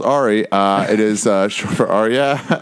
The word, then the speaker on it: Ari: It's pronounced Ari.